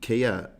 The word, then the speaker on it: Keir: And unfortunately, Kia rhymes with two-tier, which is a shame because Farage is the real two-tier guy in all this.